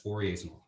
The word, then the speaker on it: Fourier: conduction is known as fouriers okay okay 48 it's spelled like four a year but i guess he's french or something so it's pronounced fourier okay and so fourier's